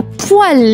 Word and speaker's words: poêle: Attention induit en erreur. La poêle les amis. La poêle. La poêle.